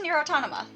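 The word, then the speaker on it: NieR: Automata: Oh, this is Nier Automata.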